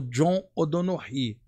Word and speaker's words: John O'Donoghue: Não, sobre a cultura celta, tem um autor que eu gosto muito que já desencarnou, que é o John O'Donoghue. A pronúncia é essa.